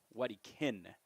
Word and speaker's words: Wedekind: Wedekind is the correct pronunciation as he shoots one down the third base line just past a diving Crater.